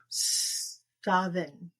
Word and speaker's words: Samhain: there is no V in the Gaelic language. I did not know that. So MH is pronounced as V. So it would actually be Savin.